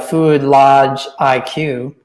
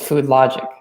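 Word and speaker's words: FoodLogiQ: LOGIQ, but the IQs are both capital. So I don't think you'd be like Food Lodge IQ. That doesn't make any sense. So I think it's Food Logic.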